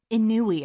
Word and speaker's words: ennui: Anui? Annoy? It's spelled ENNUI. Interesting. It's like spelling Mississippi, like MISSIPPI. And it's like ENNUI. Inui.